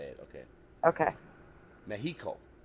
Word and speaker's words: Mexico: Mexico. I just had to say it. Okay. Okay. Mexico. It's cool to be able to pronounce an X like an H.